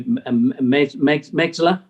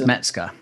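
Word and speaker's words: Mezger: I think it's got to be Mexler. Is it? How do you pronounce it? Hans Metzger. Metzger. Sorry.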